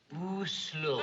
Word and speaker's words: Oslo: Yeah, well, there's a very large city there, and I never know how to pronounce it. Is it Oslo or Oslo? Oslo.